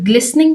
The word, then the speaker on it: glistening: तो ग्लिसनिंग word में हमारे पास लेटर T साइलेंट है।